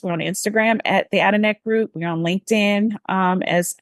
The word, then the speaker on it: Adenek: And just for humor, I know that the Adenek Group is a mouthful and people ask me, how do you pronounce it? But actually it is Kenita spelled backwards.